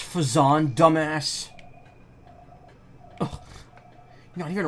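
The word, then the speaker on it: Phazon: here but guess not it's pronounced fazon dumbass no you got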